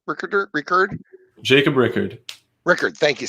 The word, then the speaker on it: Rickard: How do you pronounce Rickard?